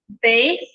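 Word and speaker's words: ב: So Beith, with the Dagesh Lene, we pronounce it as a B sound. Without the Dagesh Lene, we soften the pronunciation so it sounds very much like our V in English.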